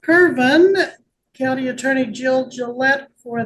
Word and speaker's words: Kirvin: Kirvin, County Attorney Jill Gillette for the state. Am I saying that correctly? Is it pronounced Kirvin?